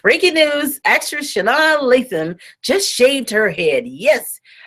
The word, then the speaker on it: Sanaa Lathan: So I'm going to let my how to pronounce that I'm on YouTube. Okay, let's see what it says. Sanaa Lathan. Sanaa Lathan.